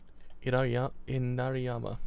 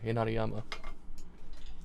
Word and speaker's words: Inariyama: Correct pronunciation out. I always like to have the correct. Right, let's have a quick look. Should we have these on hand? Inariyama. Yeah, Inariyama. Right, so called Iraniyama.